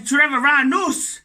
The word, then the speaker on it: Treviranus: And Treviranus is the correct pronunciation.